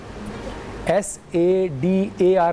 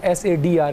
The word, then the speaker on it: صدر: کہہ رہی تھی، جبکہ تلفظ میں غلطی آپ کی یہ تھی کہ آپ صدر کہہ رہی تھی، لفظ ہوتا ہے صدر، SADAR نہیں ہوتا، SADR کر دیں، صدر، دال کے ساتھ رے فوراً ہوتا ہے، ٹھیک ہے، جیسے